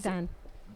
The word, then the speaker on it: Kyrgyzstan: Anyways, he's- Kyrgyzstan.